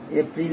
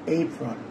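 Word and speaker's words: April: এর উচ্চারণ এই শুধু এ আছে বাট এর উচ্চারণ এই যেমন এইলিয়ান এইলিয়ান এই ফ্রল এইলিয়ান এঞ্জল এঞ্জল এঞ্জল এঞ্জেল না এঞ্জল এইপ্রল এপ্রিল না এপ্রিল হবে না এই ফ্রল এ পি আর আই এল এই ফ্রল এ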